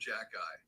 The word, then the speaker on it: Xhekaj: One guy we have to talk about is Arbor Jacki from the Montreal Canadiens, who, when you look at his name, you think, how on earth can we pronounce it?